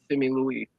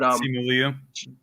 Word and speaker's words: Simu Liu: And mine's Simi Louis. I always pronounce his name wrong, but Simu Liu.